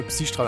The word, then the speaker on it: Psi-Strahl: Voll scheiße ausgesprochen gerade. Psi-Strahl natürlich.